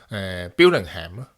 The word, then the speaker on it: Billingham: When I was younger, I didn't understand the names of places in the UK or their pronunciations, so I thought it was Birmingham. But it's not. There is a difference.